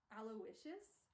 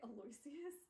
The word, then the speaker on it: Aloysius: Apparently his first name's pronounced Aloysius, which is stupid. I was pronouncing it Aloysius, because like that's how it's spelled.